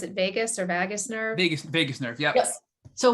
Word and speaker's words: vagus nerve: I don't have to pronounce it vagus or vagus nerve.